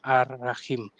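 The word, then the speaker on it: الرحيم: We know that this is supposed to be read Ar-Rahman, Ar-Rahim, but we will say Al-Rahman, Al-Rahim, pronouncing the Alif Lam very clearly, because people listening, they will probably not actually speak Arabic. So that's not how it is pronounced in the Arabic.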